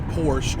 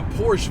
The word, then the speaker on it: Porsche: My thing is like, anybody that gets a Porsche or a Porsche, first of all, I'm not saying Porsche. It's not spelled like that.